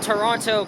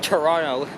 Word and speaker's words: Toronto: I always pronounce it as silent, as like Tirana or Toronto. I don't know why I said it like that. I mean, a lot of people use different pronunciations, but for me, it is always the second T that is silence.